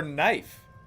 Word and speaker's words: knife: Or knife. Knife has a silent K at the beginning.